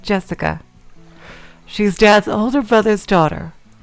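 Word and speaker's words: 朱志香: Anyway, Blah is pronounced Jessica.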